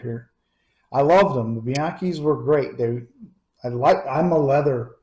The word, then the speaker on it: Bianchi: And I was at a local gun shop years and years ago and found I think it's Bianchi is how it's said.